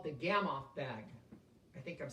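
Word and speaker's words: Gamow: I know it's spelled G-A-M-O-W, but I think it's Gamoff, like with O-F-F.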